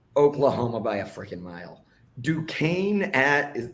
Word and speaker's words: Duquesne: Duquesne if that's how you pronounce that, at West Virginia. That was the correct pronunciation.